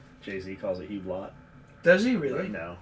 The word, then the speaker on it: Hublot: spelled it for me and how is that pronounced oo oblo yeah oo I call it hublo Jay-Z calls it Hublot does he really no J Jay-Z actually has